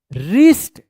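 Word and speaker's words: wrist: वन बॉय हैड अ रिस्ट डब्ल्यू आर आई एस टी रिस्ट ध्यान रखिएगा आर से पहले अगर डब्ल्यू आता है तो डब्ल्यू जो है ना साइलेंट रहता है रिस्ट वॉच डब्ल्यू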